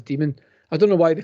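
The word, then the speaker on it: daemon: http and that's demon that's pronounced as demon i don't know why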